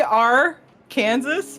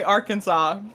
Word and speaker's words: Arkansas: Kansas let's say this it's literally our Kansas but we say Arkansas yes Arkansas foreigners are like what